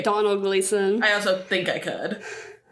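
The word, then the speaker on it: Domhnall Gleeson: Donald Gleason. I also think I could. The way I used to fully pronounce his name as Dominhall Gleason in my brain when you because it's just got that.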